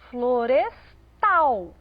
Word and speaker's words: florestal: Na palavra florestal, parece muito com a palavra floresta, mas a ênfase veio para o tal, florestal.